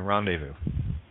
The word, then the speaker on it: rendezvous: Z is silent in rendezvous.